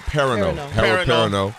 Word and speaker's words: Perrineau: Harold Perrineau.